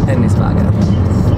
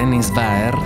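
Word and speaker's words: Henningsvær: prima di arrivare a henis wager seguiteci tralasciando il fatto che la pronuncia corretta dovrebbe essere Enis verer abbiamo quindi fatto un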